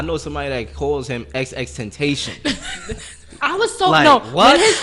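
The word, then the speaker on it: XXXTentacion: somebody that calls him ex-extentation i was so you know when he first came out i was like yo how you say it and then he said he was like tentacion i was like see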